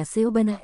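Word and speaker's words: 西班牙: Jika Jian Wang ada di sini, dia akan mengatakan bahwa ini dibangun dengan gaya Seobanah Espana dalam pengucapan China."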